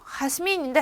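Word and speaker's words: Jazmín: 그래서 제 이름도 하스민인데 하스민이에요. 하스민 아니고 하스민.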